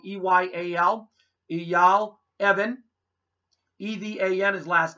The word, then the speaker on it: Eyal: You can call my tour agent, Eyal Evan. His name is spelled E-Y-A-L.